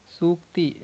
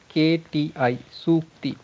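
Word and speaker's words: sūkti: Sukti, in English you can say Sukti, Sukti. So if you pronounce it properly, Sukti, the word it is like Su Ukti. Su is for good, Ukti means something said.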